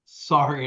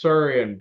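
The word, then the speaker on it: Saurian: brandy and I think I called it sorry and uh SAR I I I mispronounced it oh how dare you and Andis was like it's suran BR and I was like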